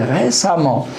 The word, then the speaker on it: récemment: L'adverbe de manière, c'est récemment. J'ajoute E2M ENT et je prononce A au lieu de E.